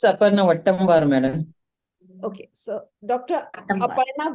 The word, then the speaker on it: Wattamwar: Aparna, would you mind actually pronouncing that? It's Aparna Wattamwar, madam.